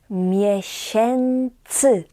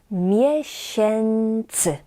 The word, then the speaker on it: miesięcy: And 5, 6 months will be 5, 6 miesięcy. Miesięcy. This letter, the E with a tail, we pronounce in this particular word as N, like in an English word and. Miesięcy.